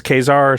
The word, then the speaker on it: Caesar: is ha Caesar it's kesar Caesar I think it it's pronounced both ways in the game yeah uh so very